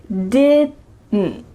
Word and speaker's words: didn't: Next we have the word didn't, didn't. But this is the clear pronunciation. When native speakers are speaking quickly, we do not say didn't with each sound pronounced. Instead, you're gonna hear didn't, didn't. There's a lot going on here in your throat. Didn't, didn't. So that final D is cut short, and the final T